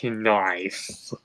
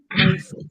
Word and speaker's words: knife: Diesel 10, I don't want to say this, but I think the K is silent in the word knife, so you just call it that.